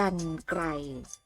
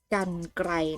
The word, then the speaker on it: กรรไกร: คำ นี้ นะ คะ อ่าน ว่า กรรไกร กรรไกร นะ คะ ปรากฎ ว่า ก็ ไม่ เห็น อากาศ หน่อ กัน ก็ ไอ ขอ ให้ เด็ก ๆ สังเกต ไหม คะ รอ หาย 2 ตัว นี้ รอ หัน นี้ ค่ะ ถ้า ไม่ มี ตัว สะกด นะ คะ รอ หาร จะ เป็น ไม่ หัด สะ กาด แล้ว สะกด ด้วย นอ หนู นะ คะ สะกด ด้วย แม่ กน นั้น เอง คำ ต่อ ไป ค่ะ